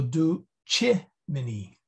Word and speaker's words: ducimini: Do, okay, this is long, this is short, right. And this is short. So it's this guy that gets the accent. So ducimini.